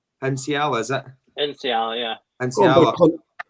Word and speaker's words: Nsiala: And maybe being in control of somebody like how do you pronounce his name? Sorry, it's Nsiala. Nsiala, is it?